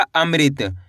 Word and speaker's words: अमृत: अ म ऋ की मात्रा मृत्य। तो मिलके बन जाएगा अमृत। कैसे पढ़ेंगे? अमृत।